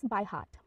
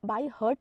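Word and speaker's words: by heart: starts next one इज बाय हार्ट बाय हार्ट इसे हम बाय हर्ट नहीं pronounce करेंगे बाय हार्ट बाय हार्ट ईडीएम का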